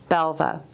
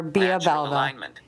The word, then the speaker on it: Belva: I'm no longer Bea Belva. I'm Belva.